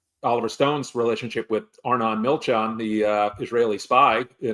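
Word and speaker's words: Milchan: when you look at Milron, how do you pronounce his name again? It was uh Milchon. M I L C H A N A.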